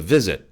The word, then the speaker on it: visit: The visit. V는 짧은 소리예요. Visit, visit. 길게 뽑지 마시고 짧게 쳐주세요.